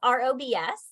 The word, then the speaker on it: ROBS: And so I guess maybe the F is silent, I'm not sure, but it's ROBS.